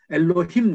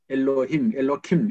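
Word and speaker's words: אֱלֹהִים: 1장에는 하나님, 2장에는 반드시 여호와 하나님이 나오는데 1장에 나오는 하나님은 히브리 말로 엘로힘 그러거든요. 엘로킴 이렇게 발음하기도 하고 엘로힘이고 2장에 나오는 하나님은 하셴입니다.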